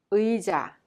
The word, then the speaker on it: 의자: The first syllable is a little bit hard to pronounce but it has same pronunciation. 의자.